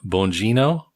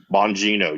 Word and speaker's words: Bongino: Dan Bongino. Bongino, yeah.